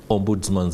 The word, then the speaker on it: Ombudsman: In studio, I'm joined by Stephen Okiror, the Director, Ombudsman Affairs at the Office of the Inspector General.